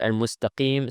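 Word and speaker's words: المستقيم: But this lam in this case is applied. And we apply it because the second letter doesn't have a shadda.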